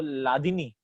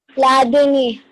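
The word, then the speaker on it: ह्लादिनी: हलादिनी कहाँ गया? He just now entered again. Unmute. नाम क्या है तेरा? हलादिनी. Sir, the H is silent. H is silent. तो लादिनी. Yes, sir. लादिन की लादिनी? Ladini.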